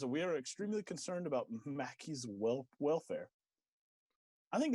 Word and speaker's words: Maki: year old lemur named mackie i think is how you pronounce it's m-a-k-i i imagine that's mackie um and they picked